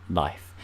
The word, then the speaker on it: Lif: like to call it LIF people like us I've seen comments up in people's videos where it's like dead like no this is you said it wrong it's not life it's LIF it's a one-and-only LIF